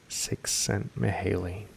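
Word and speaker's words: Csikszentmihalyi: psychologist male sent Maley it's got a description of the pronunciation pronounced six cent Maley has done more than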